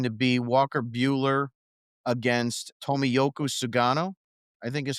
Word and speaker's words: Tomoyuki Sugano: It is going to be Dustin May against Rogers, and it's going to be Walker Buehler against Tomoyuki Sugano, I think is how you pronounce it.